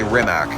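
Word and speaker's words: Rimac: a remat Nevada and it's perfectly s fine to say remac uh they actually went with the international pronunciation of that word of their own name cuz they realized if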